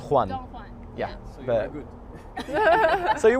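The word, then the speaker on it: Don Juan: Don but it's a it's a Spanish name actually so it's Donan Donan yeah so good so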